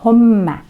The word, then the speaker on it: homme: Две буковки М удваиваем, произносим homme.